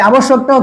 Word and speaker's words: আবশ্যক: এই আবশ্যকটাও কি? এরকম একইভাবে এই দেখো আবশ্যক। জফলা আছে। জফলা থাকলে কি? দুবার দ্বিতীয় উচ্চারণ হবে।